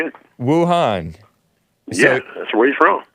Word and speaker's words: Wuhan: Wuhan?